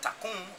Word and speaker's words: Takun: So meaning that tycoon is spelled T-A-K-U-N.